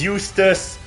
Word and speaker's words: Eustace: Yeah, his name is Eustace. That rhymes with useless.